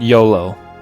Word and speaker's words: Iolo: Yes, EO, or EO-lo, I guess is how it's spelled, but that's not how you pronounce it. You pronounce it YOLO. I'm positive that's the proper pronunciation for it.